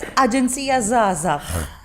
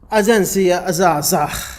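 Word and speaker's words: Aġenzija Żgħażagħ: I hope my pronunciation was... Let's say it's okay. You're trying to say that it was magnificent. Somehow, but it's Agenzija Zghazagh. Agenzija Zghazagh.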